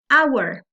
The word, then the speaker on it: hour: Okay por ejemplo an Hour Okay en este caso la H no se pronuncia an Hour Entonces mi primer sonido